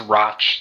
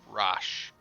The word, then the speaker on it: Roch: It's Roch. That's how I usually pronounce it, by the way. Rosh. Rosh? Roch. Roch. Rosh. There's a hidden T.